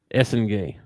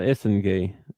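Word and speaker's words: Essengue: It says the GUE portion at the end is pronounced like gay in French with a soft G sound.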